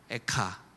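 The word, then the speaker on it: איכה: 의미를 갖고 있는 감탄사입니다 공교롭게도 우리말과 히브리어가 발음이 똑같죠 에가와 에카 여러분 예레미야에게 무엇이 그토록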